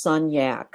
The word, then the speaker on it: Sunyak: mention before we went live but it's actually pronounced son yak so exactly as it spelled ask you a